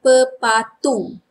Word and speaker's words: pepatung: Dragonfly formal pronunciation would be pepatung. Pepatung. But informal pronunciation which we say when we speak pepatung.